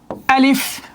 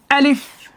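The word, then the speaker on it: ألف: আলিফ যখন আমরা উচ্চারণ করি, আমাদের মধ্যে অনেকে ওইভাবে উচ্চারণ করে আলিফ, এইভাবে মুখটা মিলিয়ে নেয়, এটা ভুল উচ্চারণ। আলিফ হবে না, সহি শুদ্ধ উচ্চারণ হবে আলিফ। আলিফ। আলিফ। আলিফ যখন বলবেন একটু খেয়াল করেন, আমার দিকে খেয়াল করেন, এই দাঁতটা আপনার এই ঠোঁটে এখানে লাগবে।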